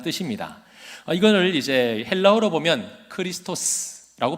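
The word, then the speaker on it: Χριστός: 이거를 이제 헬라어로 보면 크리스토스라고 발음을 하고요.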